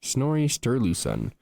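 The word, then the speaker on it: Snorri Sturluson: I've been saying his name wrong. Sterooen. Sterles. Sterlesen. Snory Sterlesen.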